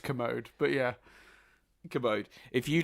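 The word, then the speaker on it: Kermode: But a lot of people praising this movie, not Mark Komodo, however you say his name. I think it's just Commode, but yeah.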